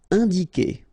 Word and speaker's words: indiquer: All right, keep in mind that when you get this Q and U after, and obviously a vowel, then U is not pronounced at all. Okay, so it's K here. You don't pronounce the U.